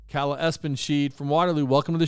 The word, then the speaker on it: Espenschied: Espen, like ESPN. Yes. And then. That's it. Espenschied.